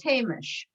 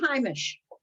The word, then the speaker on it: Heimish: about pronunciation, things like a word that those of us who speak and write non-Haredi Yiddish would pronounce as Hamish, and that's the way it's come into English, meaning homey, not homely, but homey. Is pronounced Heimish.